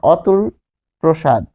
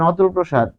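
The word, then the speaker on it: অতুলপ্রসাদ: যেহেতু উচ্চারণে থামছি যেমন অতুল প্রসাদ অতুল প্রসাদ অতুল প্রসাদের ক্ষেত্রে হবে যেমন অতুল প্রসাদ যখন বলছেন অতুল প্রসাদ যেমন অতুল প্রসাদ সেন এই অ কিন্তু তখন নামের ক্ষেত্রে ও দিয়ে শুরু হবে।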